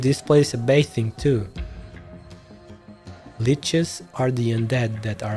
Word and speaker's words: lich: I'm not quite sure how old you leashes are. Give me a second, guys. Now I am kind of curious to know. What the hell? Lich. Ah, that's how you pronounce it. Lich.